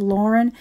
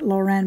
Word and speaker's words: Lauren: And just a little heads up, guys, that pronunciation is Lauren. He actually took the name from the movie star Lauren Bacall. So I hear a lot of people pronounce it Lauren, but it's actually Lauren.